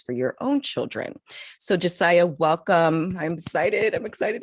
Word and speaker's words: Josiah: so i'm excited to have josiah i did pronounce that correctly right josiah yes perfect and i really just want to